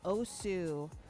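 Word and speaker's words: osu!: OSU, and I appreciate they gave me the pronunciation of that game, OSU.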